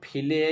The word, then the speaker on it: File: तीसरा है फिले या फाइल भी कह सकते हैं इसको, ये चूंकि स्पेलिंग इसकी यही होती है FILE, तो इसको हम फाइल भी कह सकते हैं, फिले भी कह सकते हैं। ठीक है, आप अपनी इच्छा से चाहे जो कहिएगा, गलत नहीं होगा।